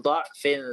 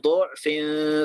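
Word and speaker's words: ضعف: Tapi juga bisa dibaca dengan mendomahkan huruf dhad. Tapi Di kita bacanya dha ya. Jadi bisa dibaca gini. Allahul ladzi khalaqakum min du'fin thumma ja'ala min ba'di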